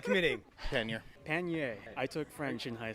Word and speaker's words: pannier: pronounce this word well i'm an american so i'm going to say pannier pennier some would say paneer others might say pennier choose your uh choose